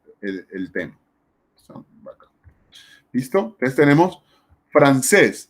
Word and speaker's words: francés: Entonces tenemos francés, lleva el acento en la última sílaba y lleva tilde porque la palabra francés termina en S.